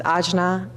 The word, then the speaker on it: Ajna: Pause for a moment, filling in the Agnya. Some may pronounce it Ajna.